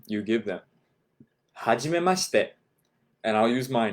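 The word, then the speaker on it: はじめまして: Ha, it's exactly, you would spell it exactly as it sounds, right? Ha, H-A, G, J-I, me, M-E, hajimema, M-A for ma, hajimema, shi, S-H-I, te, T-E, right? Hajimemashite.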